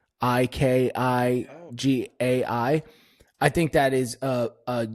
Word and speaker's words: ikigai: It's a Japanese name, and I've been made fun of for pronouncing it wrong, but it's called Ikigai, Ikigai.